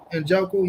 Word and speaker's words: Njoku: We had how you pronounce that tight end name? Njoku? Njoku, yeah, he had 9 for 89 with a touchdown.